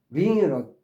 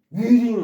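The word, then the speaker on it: wring: W가 발음이 안 돼요. 그냥 윙이에요. 우리 반제처럼 윙으로 그 똑같이 바음되는 거예요. 동음이에요. 동음. 자, 어쨌든 W가 낀 거예요. 윙에 링에 응. 위링 하면 안 돼. 위하지 말고 그냥 윙 자신있게 빼세요. W 발음하지 마세요.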